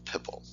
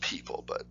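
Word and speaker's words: Pipl: at a site called pipple probably pronounced people p-i-p-l this is also very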